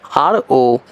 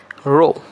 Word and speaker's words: rho: Yes, the pronunciation is RO, rho.